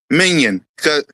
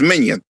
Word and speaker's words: Mannion: Minion. Minion. I get his name wrong. The first time I said mention, so it's Minion.